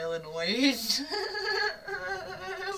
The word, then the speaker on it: Illinois: You don't need to pronounce the S either. I get on people when they say Illinois.